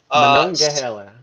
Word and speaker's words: Monongahela: You can help me with my pronunciation. The Monongahela River. Monongahela.